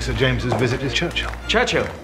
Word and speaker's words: Churchill: James's visit with Churchill Churchill that's how you say it all together like that I'd heard church and Hill but couldn't find either all I could see